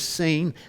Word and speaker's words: Sin: And I put a note there uh because I want you to understand the way you pronounce that is seen.